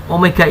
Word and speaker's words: Omega: per detik jadi gimana Omega ini ngetik bacanya Omega bukan wae ya bukan W ingat bukan gue nih salahnya bukan wae kalau ini usahanya Omega